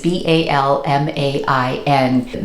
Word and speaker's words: Balmain: I had a lot of people correct my pronunciation, so I'm sorry that I did not pronounce that properly, but the brand is Balmain.